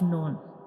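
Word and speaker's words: ن: The noon is pronounced when we touch the tip of tongue to the gums behind up front two teeth.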